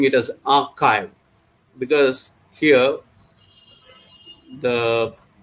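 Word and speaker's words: arXiv: the middle that is x is pronounced as kai or its greek letter kai not x in the english alphabet so that's why it is known as archive next is a bioarchive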